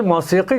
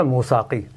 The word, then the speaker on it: موسیقی: دراصل موسیقی جسے ہم لوگ عام زبان میں موسیقی کہتے ہیں, اس کا صحیح تلفظ ہے موساقی.